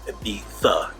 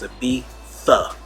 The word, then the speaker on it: Ibiza: So the first thing that I learned in Spain when I went to Ibiza, it's actually pronounced Ibiza. In English, we pronounce their sound with a TH, so it's Ibiza, Ibiza.